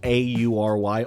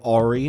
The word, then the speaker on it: AURY: which are called just AURY. AURY is what I'm pronouncing them as. I've heard them pronounced a few different ways. I feel that's the most correct way.